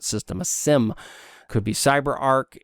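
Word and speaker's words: CyberArk: a Sim could be cyber Arc not cyber art pronunciation now it could be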